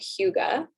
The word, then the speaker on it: hygge: Another strategy that is actually part of, it's a Danish word called Hyuga, and it's spelled Hygge.